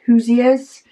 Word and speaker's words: Hoosiers: She says Indiana people are called Hoosiers. It sounds like Hoosiers.